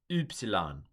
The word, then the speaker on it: Upsilon: Upsilon. Upsilon. We've got epsilon and upsilon. But this is u, more like the German or French u.